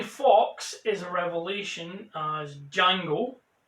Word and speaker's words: Django: is a revelation as jango the d is silent it introduced me at